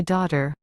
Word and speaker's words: daughter: Комбинация. G. H. Немая, хотя она и не стоит в конце слова. I want to call my daughter.